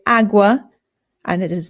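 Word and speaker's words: agua: Awa. This is the word for water. Awa. Awa. Again, the a makes an a sound. There are some British people, including people in my own family, who say awa, and it is not correct.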